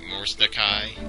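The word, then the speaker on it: Mordecai: Morsdakai?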